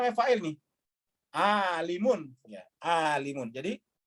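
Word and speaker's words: عالم: Alimun, ya, alimun. Jadi bacanya alimun.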